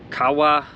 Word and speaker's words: Kawau: Bon Accord Anchorage on Kawa Island I think is how you pronounce it um we can't leave